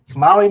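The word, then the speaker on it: Mahle: And for our podcast listeners, Molly is spelled M-A-H-L-E.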